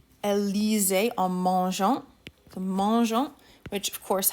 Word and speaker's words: mangeant: The mangeant, which of course has that E in there because the GA combination would be pronounced as mangant. So just like we did with the imperfect way back in French too, when we've got an A after a G, we're going to put an E in between for pronunciation.